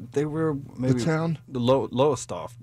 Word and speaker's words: Lowestoft: What's the one from Lowestoft? Where? You know Lowestoft, England? Lowestoft? You're probably saying it wrong. Lowestoft.